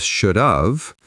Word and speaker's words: shoulda: We often change the sound to a schwa sound at the end. It sounds like shoulda. SHOULDA, shoulda.